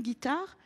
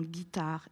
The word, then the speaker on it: guitare: Je te demande de faire la même chose dans les mots un guépard, une guitare et une guenon.